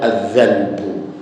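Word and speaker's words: الذنْب: itu dalam bahasa Arab Ada kata lain yang hurufnya sama tetapi cara bacanya berbeda kalau ini cara membacanya azzanbu Nah yang satu lagi adalah azzanabu nah itu kalau azzanbu artinya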